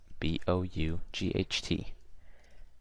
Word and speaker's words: bought: Then we have G, buy, bought, B-O-U-G-H-T. GH is silent, by the way, you guys. So bought, boat.